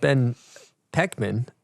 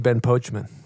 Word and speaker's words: Poechman: bottom of this uh your name is pronounced Ben pekman but every part of me wants to call you Ben pochman mhm what's going on with